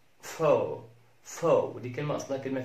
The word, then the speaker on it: faux: حرف ال X، حرف ال X لا ينطق في كلمة زي كلمة فو فو فو.